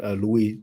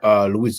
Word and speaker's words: Louis: The French King Louis XIV. I mean, Louis, you pronounce the S in English, but we don't in French. Louis XIV, who is probably the most majestuous or rich or famous French king.